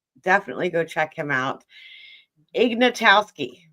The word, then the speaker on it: Ignatowski: Ignatowski, right?